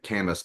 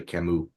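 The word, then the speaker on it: Camus: this dude's last name it looked like cus but it's actually Camu French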